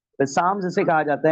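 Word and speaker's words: psalms: यानी जबूर वास द रीइंफोर्समेंट ऑफ तर ठीक है पसाम जिसे कहा जाता है पी ए एस एल ए एम ठीक है पसाम्स ठीक है एल साइलेंट करके पसाम्स इसे कहा जाता है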